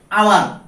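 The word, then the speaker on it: hour: আর শব্দের প্রথমে এইচ থাকার পরও যদি তা উচ্চারণ না হয় তখন তার পূর্বে এন বসে। যেমন আওয়ার, আওয়ার মানে ঘন্টা, যে এখানে আওয়ার ঘন্টা, আওয়ার মানে এর আগে এন বসবে।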